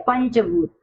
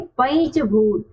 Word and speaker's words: पंचभूत: देखिए यहाँ पहला शब्द क्या दिया है, हम इसको क्या पढ़ते हैं, पंचभूत। क्या यह सही है, नहीं। क्यों, मैंने आपको बताया था जो च, छ, ज, झ और य, इन वर्णों के पहले यदि अनुस्वार होता है तो हम उसका उच्चारण किसके अकॉर्डिंग करते हैं, पंचम वर्ण यानी य के अकॉर्डिंग। तो यहाँ इसका उच्चारण क्या होना चाहिए, पंचभूत।